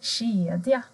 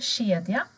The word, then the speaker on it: kedja: Till exempel kedja. Här ser ni en kedja. K och E blir sj.